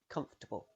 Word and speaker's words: comfortable: you hear what's happening the o r after f could be pronounced with a schwa sound comfortable but it often isn't pronounced at all you link directly from the f to the t comfortable try it after me